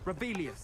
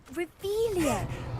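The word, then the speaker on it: Revelio: Rebellious. Saying it wrong. Ugh, Revelia. Much better.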